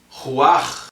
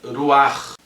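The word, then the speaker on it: רוח: Nós sabemos que corpo em hebraico é guf, alma em hebraico é nefesh, espírito em hebraico é ruach, ou você pode pronunciar ainda ruach.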